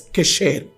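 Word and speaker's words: קשר: palabra dice la palabra hebrea para vínculo es queser así se lo puedo pronunciar ust sab que yo no soy judío ni hebreo pero manejamos un poco quecher es una palabra hebrea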